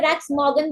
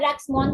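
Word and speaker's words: Rex Maughan: उनका नाम था, कोई इसको मिस्टर रैक्स मॉर्गन बोलता है, कोई मिस्टर रैक्स मॉन बोलता है, आप कैसे भी इसको प्रोनाउंस कर सकते हैं, डिपेंड्स ऑन यू।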